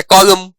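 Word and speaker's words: column: जैसे कॉलम autumn इनमें N silent है।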